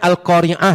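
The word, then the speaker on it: القارعة: Itu bacanya Al-Qari'ah ya, jangan Al-Qari'ah, pakai hamzah. Karena ada orang yang mengartikan al-qari'ah itu pembaca Quran. Bacanya pakai ain, bukan pakai hamzah.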